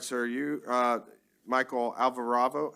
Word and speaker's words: Alvarado: sir you uh Michael Alvarado how do you say your last name it's Alvarado okay they messed up on